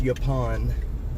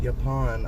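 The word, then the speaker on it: Yaupon: This is Yapon. Uh let me see what the actual street name is. Uh, Yapon Trail. Y A U P O N. Yapon, I think, is how it's said.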